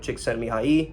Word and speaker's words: Csikszentmihalyi: If you're thinking about the flow state, you're probably thinking of Csikszentmihalyi, which, yes, I pronounced his name right.